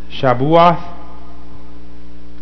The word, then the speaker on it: Shavuot: Feast of Weeks and it's shabath or shabat and that just means weeks okay that's the Hebrew pronunciation of weeks and as we're